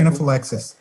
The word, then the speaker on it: anaphylaxis: Now the story said that she came down with something called anaphylaxis. Yeah. How am I pronouncing it correctly? Anaphylaxis.